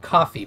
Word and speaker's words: Ko-fi: um um another site called actually it's called coffee but it's pronounced sorry it's pronounced copy but it's KO